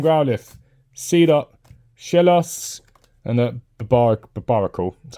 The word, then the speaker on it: Barbaracle: Alright, Phalanx, Poliwag, Oddish, Hisuian Growlithe, Seedot, Shellos, and a Barbaracle, that's how you pronounce that.